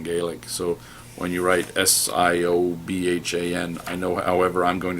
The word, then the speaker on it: Siobhan: speak Irish and Gaelic so when you write s-i-o-b-h-a-n I know however I'm going to try to pronounce that is wrong huh Siobhan yeah I